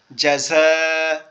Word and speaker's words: جزاء: জাযা, এই দেখেন এখানে উচ্চারণ সুন্দর করার জন্য আগে অক্ষরের বুঝতে হবে, জিমটা শক্ত আওয়াজ হবে দাঁতের পাটি একসাথে চেপে, তারপরে ঝাটা হবে জিহ্বার আগা নিচের দাঁত থেকে। জাযা, জাযা, সবাই একটু বলেন,